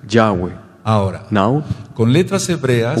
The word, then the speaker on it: Yahweh: sell not sell romanza Joey the name is pronounced Yahweh Yahweh Yahweh our now Conley the Supriya will Hebrew letters